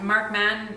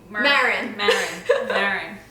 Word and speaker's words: Maron: Mark Mann. What's his name? Maron.